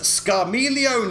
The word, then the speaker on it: Scarmiglione: four unpronounceable elemental fiends scar me leone is how you pronounce it i believe everyone's gonna get into